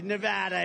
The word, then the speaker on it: Nevada: we love it and you always have to say it correctly Nevada you right got to